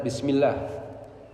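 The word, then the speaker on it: بسم الله: Jadi bacanya bismillah. Kenapa? Karena sebelumnya adalah ismi bismi mim kasrah. Sehingga lafzul jarah itu dibaca dengan tipis.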